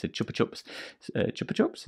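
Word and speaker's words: Chupa Chups: it's a chopper chops chopper chops is how you say it see i was right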